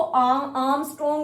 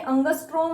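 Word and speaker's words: ångström: कई बच्चे ना इसको आर्मस्ट्रोंग बुलाते हैं, तो ये प्रोनाउंसिएशन याद रखना, ये आर्मस्ट्रोंग नहीं है, अंगस्ट्रोम है.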